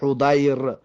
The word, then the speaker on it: حضیر: مضمومة ضمش بته میگه، و ضاد معجمة مفتوحة، و حرف ضاد نقطه‌دار و فتحش بده، یعنی که حضیر.